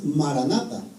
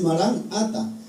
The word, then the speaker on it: marán ata: expresión era marán ata casi la mayoría pronunciamos corrido y decimos maranata entonces pero la palabra exacta es marán ata Entonces yo miraba las